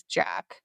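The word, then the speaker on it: Jak: So it turns out that Slade's mom was having an affair with, I pronounce it as Jack, J-A-K.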